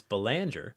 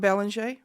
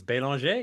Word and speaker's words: Belanger: And I thought about my last name, which I do pronounce Belanger, Not Belanger. but when I'm in France, it's Belanger.